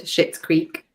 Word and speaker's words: Schitt's Creek: I do, this isn't a swear word, but it sounds like a swear word, Schitt's Creek. It's spelled differently, but you can't tell that when I say it out loud.